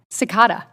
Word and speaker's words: Cekada: Cekada. Did I get that right? Yeah, Cekada? Yes, Cekada, yes, ma'am.